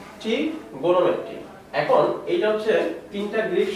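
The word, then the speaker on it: trigonometry: তো ত্রিকোণমিতি, যেটা ইংরেজি উচ্চারণ হচ্ছে ট্রিগোনোমেট্রি।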